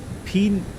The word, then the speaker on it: PNNEN: Pronunciation is Pinyun, like pinion for the Level 112, thanks.